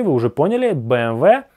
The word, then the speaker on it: BMW: Вы и так всё поняли, BMW. BMW. Помнишь? Это буква W, а не V.